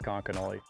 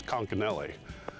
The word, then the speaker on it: Conconully: the town as conch and i've deliberately pronounced it five different ways just to confuse you guys but it is konkanoli washington local ian blomgrin spends his free time